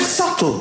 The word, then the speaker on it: subtle: The word subtle. Would anybody object if it was spelled s u t l e? Not a single person would. But there's a b in the middle going shh.